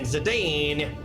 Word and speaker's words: Zidane: I know it's pronounced Zidane, so I can't do it.